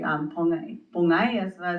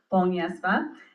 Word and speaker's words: Pongyesva: Pongyesva is how you say in Hopi, but Pongyesva is how sometimes I introduce myself, so people can announce it.